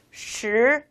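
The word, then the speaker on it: 十: 시 라고 읽으시면 되겠습니다. 네, 우리가 이렇게 발음을 할 때 조금 혀를 동그랗게 말아주시는 거 잊지 마시고요.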